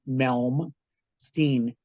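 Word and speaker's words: Malmsteen: know who in is so look him up it's spelled y n w i e and melm melin is m a l m melm Stein s teen and he plays with scallop Frets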